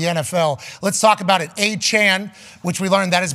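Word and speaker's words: Achane: happening around the NFL let's talk about it achan which we learned that is a pronunciation of his name a couple weeks ago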